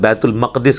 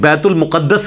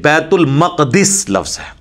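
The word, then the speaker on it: Bait ul-Maqdis: The Mosque of Al-Aqsa which is also called "Bait ul Maqdis." It is not "Bait ul Muqadas" (it's wrong pronunciation) It is called "Bait ul Maqdis" The word "Eliyah" is also used for it in ahadith.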